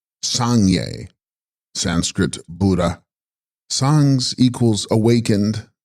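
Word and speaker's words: Sangs-rgyas: The text contains Tib Sangs Rigas, pronounced Sangye, Sanskrit Buddha.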